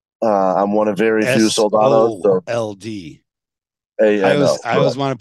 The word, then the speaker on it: Soldano: I'm one of very few Soldanos. S-O-L-D. I always want to put it S-A. Yeah. A lot of people misspell it, but it's Soldano. It's exactly how it's spelled and sounds.